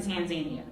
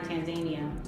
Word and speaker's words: Tanzania: First you went to Tanzania, and then you came to Kenya for your 3-month stay.